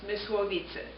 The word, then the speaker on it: Mysłowice: born on July 1930, in the city of, in Polish it would be pronounced Mysłowice. In German it's Myslowice. And so I was born in Poland, but we were German.